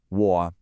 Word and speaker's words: 我: It's a third tone. Now technically, the third tone falls and then rises, but you'll almost never hear it pronounced that way in a full sentence. Usually you'll hear what's called a half-third tone, which is just a low, dipping sound that doesn't rise back up.